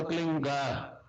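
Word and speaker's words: क्लीं: की मात्रा और बिंदी, उसका उच्चारण होगा क्लीन गा। गा की ध्वनि निकलेगी पीछे। आप अंग बोलो, यहाँ स्ट्रोक लगता है, अंग बोलो।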